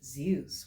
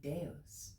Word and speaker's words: Zeus: Well, we have to decide, do we use the US pronunciations or the Greek pronunciations? Right, because otherwise Zeus would be Deus.